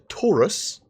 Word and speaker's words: Taurus: Connie's the Andromeda the Taurus the rhymes with porous it does rhyme with porous and the one that